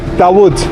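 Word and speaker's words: Davud: Dawood. How That spell it?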